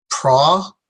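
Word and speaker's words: προφήτης: There's the prophetes. Prophetes. The accent is going to be in the face, so it's prophetes, and so we'll put our stress on the fe.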